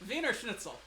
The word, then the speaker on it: Wiener Schnitzel: The W is a V. V. The V is an F. Wiener Schnitzel.